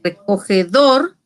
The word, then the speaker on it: recogedor: Mientras que recogedor también es una palabra aguda porque su sílaba tónica es dor, pero no va a llevar tilde porque termina en R.